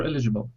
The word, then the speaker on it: eligible: you know you know the stress falls on the first syllable yeah not eligible he is eligible for